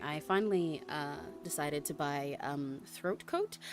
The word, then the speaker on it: Throat Coat: I finally decided to buy throat coat. I have to really emphasize that when I pronounce it to make sure I enunciate correctly that it is throat coat, not with a G.